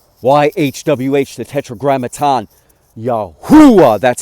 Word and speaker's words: Yahuah: of the name YH wh the tetr Gramatan yahua that's how it's pronounced yahua from the beginning of time from the beginning